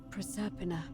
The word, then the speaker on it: Proserpina: First, Proserpina. Okay, that's how you pronounce that.